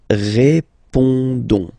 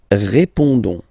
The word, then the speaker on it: répondons: Don't pronounce the final S. You only pronounce this on sound. So you get répondons. Nous répondons.